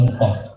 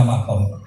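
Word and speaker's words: مقام: Biasanya kiai alim itu bacanya muqam, sing setengah alim bacanya makom. Nah itu ya tengah-tengah saja, yang jelas itu sama-sama benar.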